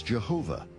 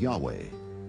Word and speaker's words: Yahweh: yahweh was named jay because early european translators were ignorant of the correct pronunciation of hebrew names many inadvertently referred to the name of god as jehovah instead of yahweh and ironically the name